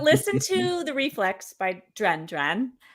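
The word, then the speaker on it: Duran Duran: to The Reflex by dren dren that's how they pronounce their own name and so like and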